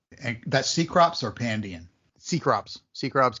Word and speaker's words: Cecrops: Cecrops, Keycrops, however you want to pronounce it.